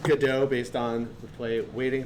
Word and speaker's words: Godot: It's pronounced GDAU based on the play Waiting for GDAU. Although Go dot does sound like something a tech nerd would make up.